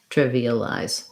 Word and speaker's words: trivialize: doesn't look confusing um length on my first syllable triv e uh lies trivialize trivialize trivialize um the via the ear syllables go by really quickly almost get reduced trivialized but you still need a you still need both of them there just fast and then your other